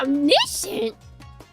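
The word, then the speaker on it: omniscient: Omnicient. Oh man, I hate English language. Of course. SC is is sh.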